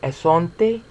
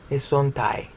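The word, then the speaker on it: ἔσονται: There will be esonte, esontai. Better pronunciation.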